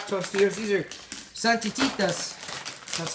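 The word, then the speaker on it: Santitas: These are Santititas.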